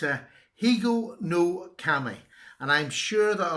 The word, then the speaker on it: Higonokami: It's in my series of peasant knives, and it's another one that I've got now to add to it, and it's a Higonokami.